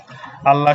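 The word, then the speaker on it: اللهُ: কারণ কি কারণ হচ্ছে যে এখানে এই যে আল্লাহ শব্দের পূর্বে কি আছে জবর আছে জবর থাকার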